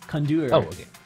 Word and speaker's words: CoNDOR: how to say cond condure oh he's my bad condur you have to say it kind of French cond there you go